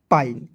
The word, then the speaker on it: pine: किसी भी वर्ड्स के अंतिम में INE दिखेगा, आंख मूंद लेना है और आइन लगा देना है। देखिए इतना ट्रिक है। चलिए मजा आ गया, आगे बढ़ते हैं। पी का प लिख दीजिएगा ना जी, और INE है तो इसका उच्चारण आइन के रूप में करेंगे तो क्या हो जाएगा, पाइन। PINE, पाइन।